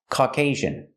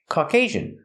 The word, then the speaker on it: Caucasian: This word is pronounced Caucasian. Caucasian. Put the stress on the second syllable. And the second syllable has a long A sound. Caucasian.